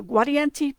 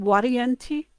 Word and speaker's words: Guarienti: So Guarienti, because that gua sounds like a wa, and the V is actually more of a wa sound, Guarienti, in Latin anyway.